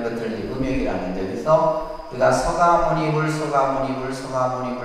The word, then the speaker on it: 석가모니불: 그래서 우리가 이제 이게 이제 불이라고 하는 부처님을 이렇게 붙여서 서가모니불 이렇게 하잖아요. 그죠? 실제 이제 석가모니불 우리가 발음할 때는 그냥 기도할 때는 서가모니불 석가라고 했을 때 이제 이 샤카족을 한자로 쓰면 이렇게 돼요.